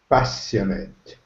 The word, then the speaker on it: passionate: repeat after me passionate passionate with a sh like sugar passionate pass it okay good